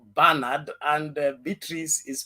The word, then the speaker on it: Bernard: indiana it says alex the name uh bernard is pronounced barnard and beatrice is pronounced